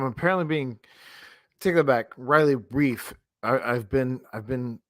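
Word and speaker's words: Reiff: hindsight different from what if you have riley rife right i i'm apparently being taken back riley brief i i've been i've been contacted that i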